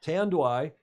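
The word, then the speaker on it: Tanduay: had no idea where tan dwigh i checked with a filipino friend this morning to see how to pronounce that yeah tan do i is the largest producer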